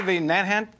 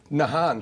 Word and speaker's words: Nahant: not had a guest born or raised in Nahant Massachusetts we do now please welcome Jason manukas hello sir how are you sir did I pronounce that correctly the nant Nahant oh sure very close though very close I